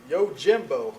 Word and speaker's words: Yojimbo: Um, Barebones Software gave us a copy of Yojimbo.